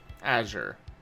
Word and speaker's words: Azure: Is it Azure or is it Azir? Azure. Okay. I always thought you pronounce the color as Azir.